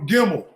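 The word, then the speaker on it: Gimel: The Hebrew third letter gimmel. Gimmel pronounces a hard G as in garden pronunciation as a consonant. It sounds like the English G in game.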